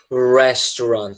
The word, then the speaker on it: restaurant: E a pronúncia é um pouquinho complicada, tá? Restaurant, tá? É como se a sílaba forte ela é o rest, tá?